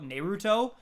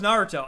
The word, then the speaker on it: Naruto: in in that video i pronounced naruto neruto uh i don't even know why like i watched naruto back when i was like 12 like every day i knew it was naruto i just like in the